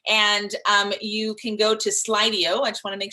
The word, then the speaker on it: Slido: So the chat, I think, is on the left-hand side, and you can go to Slido.